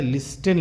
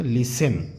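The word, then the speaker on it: listen: एन लिसन देखो बच्चों लिखा है लिस्टन लिखा हुआ है लेकिन टी साइट है साइलेंट है साइलेंट माने होता खामोश नहीं पढ़ा जाएगा तो ये क्या पढ़ जाएगा लिसन क्या पढ़ा जाएगा लिसन लिस्टन नहीं पढ़ा जाएगा लिसन टी साइलेंट है तो लिसन इफ वी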